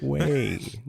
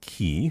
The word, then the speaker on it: quay: Quay, not key. I don't know who says key.